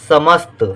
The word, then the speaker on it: समस्त: यहाँ पर समस्त जब हम कहते हैं तो सा का उच्चारण कम देर के लिए हो रहा है। जब किसी अक्षर का उच्चारण कम देर के लिए होता है तो उसे हम आधे रूप में लिखते हैं, तो यहाँ पर